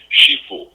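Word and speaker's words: 师父: know the the word sefue means teacher father so if I say it correctly in Mandarin it would sound like sheu teacher father so there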